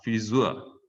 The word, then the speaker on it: Frisur: Ini EU ya, EU nggak dibaca oi, karena dia bukan satu kesatuan. Biasa EU kan baca oi ya, sehingga Deutsch, Europa, Neun. Tapi ini enggak, ini bukan Friseur, enggak, bukan. Ini dia bacanya pisah, Frisur.